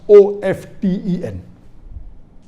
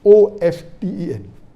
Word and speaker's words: often: T is not silent, it should be pronounced.